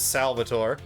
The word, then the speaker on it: Salvatore: no Teddy Roosevelt that's what people will want to pronounce his name as but it's Salvatore Symphony time is